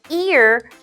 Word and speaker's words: ear: When we see the word ear, we kind of pronounce it like the word rear, like the rear view mirror. So ear is said with an E sound at the beginning. So your mouth will smile, ear.